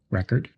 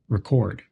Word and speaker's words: record: or verbs for example record is stressed on the first syllable when it's a noun record and on the second syllable when it's a verb record fluent English speakers naturally